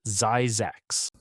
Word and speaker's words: Zzyzx: California has a town called Zzyzx, pronounced Zzyzx.